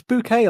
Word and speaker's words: bouquet: It's bouquet, like a bouquet of flowers.